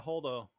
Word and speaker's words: Holdo: And kind of pulls a little holdo maneuver. Is that what it's called? Did I pronounce that correctly? Yeah, holdo.